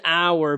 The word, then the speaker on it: hour: a vowel sound but let's go to hour it's on our because the first sound you hear is not that h the first sound you hear is ah ah that is a vowel sound because of that we use an hour all right you don't say hour you say on our and the last example